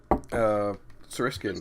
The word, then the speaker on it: Seriscan: Yeah, so what inspired the world of the Seriscan Campaign, if I pronounce that right? Seriscan.